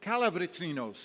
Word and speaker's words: Calavritrinos: I think I mispronounced Christina's last name. It's Calavritrinos, and thank you, Christina.